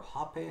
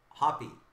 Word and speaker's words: Hoppe: Peter, you got Salif Sané patch, Hope patch, prime patch to 25 rookie, and Hope autograph to 25 rookie. So if you're a Matthew Hope or Hoppe, how do you pronounce it? Hop.